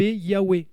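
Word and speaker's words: Yahweh: vocalisation comme Huawei yabe Yahwe le vase produit un son W et pas V c'est Goa et d'ailleurs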